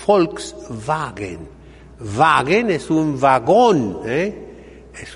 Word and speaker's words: Volkswagen: ¿Cómo se dice en alemán? Volkswagen. Aquí decimos Volkswagen, pero es Volkswagen.